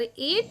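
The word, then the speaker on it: eight: तो यहां पर एट वर्ड में जो लेटर है जी और एच ये है एक साइलेंट लेटर।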